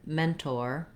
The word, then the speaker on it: mentor: We have first syllable stress in mentor. So the men syllable has the clear vowel, it's longer, but we do still say the or in mentor.